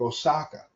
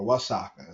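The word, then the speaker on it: Oaxaca: Mexico to be specific Osaka or wasaka as they pronounce it in Mexico my Mexican brothers and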